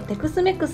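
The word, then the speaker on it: Tex-Mex: メキシコ風のアメリカ料理をテクスメクスと読みます 30 分間煮込んだ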